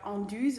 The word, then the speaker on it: Anduze: I'm living here in the area of Anduze, not directly in Anduze, but my family is from the surroundings here in the area.